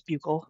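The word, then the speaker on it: buccal: They keep calling them buckle swabs. That's not how you pronounce it. It's bugle.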